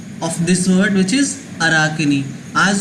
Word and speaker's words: Arachne: So please learn the pronunciation of this word which is Arachne.